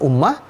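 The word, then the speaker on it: أمة: pada ujung menjadi kalimah sebagaimana kata Ummah ee di kata tulisan umat tapi dibacanya Ummah Dibaca juga juga seperti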